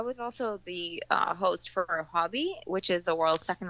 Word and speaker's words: Huobi: It's something like Huobi or something like you gotta like do the exclamation going up, which I so failed at that, and I was live on TV.